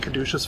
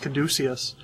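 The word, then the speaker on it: caduceus: I keep calling him Kaduca's face. I guess it's pronounced Kaducius.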